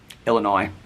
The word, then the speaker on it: Illinois: I don't need to correct them and go Illinois. There's no S.